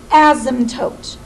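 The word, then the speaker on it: asymptote: and this is the word it's called an ASM toot again that's pronounced ASM toote so the ASM toote right now for this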